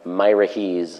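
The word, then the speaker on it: Miraheze: wiki farms Wikia gamepedia my Rickey's as it's pronounced and refer on are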